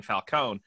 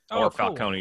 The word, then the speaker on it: Falcone: playing Mob Syndicate Carmine Falcone, Falcone, depending on how you pronounce it. It depends on the iteration, right? If the E is silent or not.